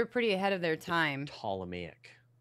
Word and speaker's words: Ptolemaic: ahead of their time Ptolemaic right and that's and that has a silent P guys yeah the Potala me